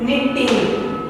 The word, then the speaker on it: Knitting: Knitting. Here K is silent. Knitting.